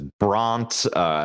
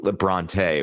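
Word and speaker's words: Brontë: Because without these, apparently you could be mispronouncing them as Bront or Brunt, not Bronte, which we all know to be true.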